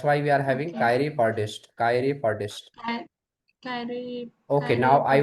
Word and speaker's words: chiropodist: We actually in India we say chiropodist, but it is not podist. Okay, in English, the O is sounds like a. So that's why we are having Okay. chiropodist.